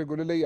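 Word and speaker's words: گلالئی: की तस कर दूं अक्सर मीडिया पर गुलेल कहा जाता है यह गुलाल है मेरा नाम आयशा गुलाल है अच्छा और इसको गलत तरीके से प्रोनाउंस किया जाता है ठीक है जी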